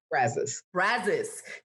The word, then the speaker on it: Brazos: covers about 588 square miles wow and it's pronounced brazos texas brazos trail yeah okay so it's not